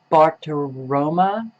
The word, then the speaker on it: Bartiromo: Maria Bartiromo, is that how you pronounce her name?